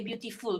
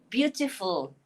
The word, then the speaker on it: beautiful: We Malaysians say beautiful because you tu kita ingat bunyi u, beautiful, but it's not. It's beautiful. Full.